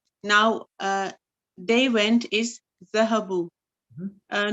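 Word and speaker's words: ذهبوا: uh they went is zahabu uh note that there is an alif at the end of the word which is not pronounced yeah so this alif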